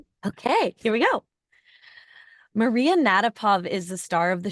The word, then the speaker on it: Natapov: and then we'll yeah roll yeah okay and natapov is the correct pronunciation you got it okay all right okay here we go Maria natapov is the star of the show today she